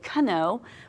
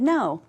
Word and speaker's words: know: We didn't say kh-no. We said no.